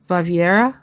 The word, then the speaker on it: Baviera: Baviera?